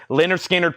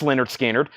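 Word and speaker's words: Lynyrd Skynyrd: left Mofi head games Mofi head games 44.99 Leonard skinnard pronounced Leonard skinnard that is 64.99 2 LP last one 45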